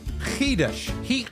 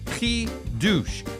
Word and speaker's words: chiddush: And the word is kesush. Sorry, khush. Hid. Uh, it's spelled ch h i d u s h. It's pronounced kouch.